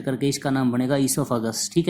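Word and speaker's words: oesophagus: हुआ था उसको हमने क्या है वह को साइलेंट करके इसका नाम बनेगा इसोफागस ठीक है फूड पाइप भोजन नली इसको बोलते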